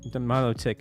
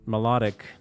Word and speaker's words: Milotic: Did you are I don't know why is Milo pronounced Milo Milotic and not melodic.